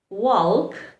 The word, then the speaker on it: walk: Letter L likes to remain silent in words where it is very hard to pronounce the letter.